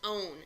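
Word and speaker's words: -one: oh and E and it's pronounced own it's a long o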